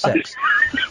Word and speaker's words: CeX: the the computer exchange CeX is pronounced sex and it's pronounced sex and um we bought